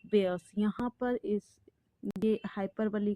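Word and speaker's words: hyperbole: हाइपरबली। Okay? हाइपरबली।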